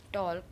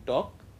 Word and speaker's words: talk: stall, talk, tall, wall, walk, want. Okay. Here again, in talk, the L is silent.